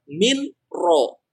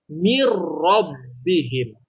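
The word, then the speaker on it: من ربهم: yang tadi saya jelaskan kalau bertemunya dengan Nam dan rok mata dibacanya bukan Minho tetapi mirrobbihim jadi melebur ke perutnya Oleh karena itu Ya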